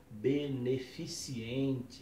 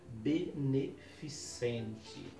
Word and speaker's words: beneficente: alguém um chá beneficente as pessoas acabam dizendo chá beneficiente uma ação beneficiente está errada a palavra correta é beneficente é uma outra expressão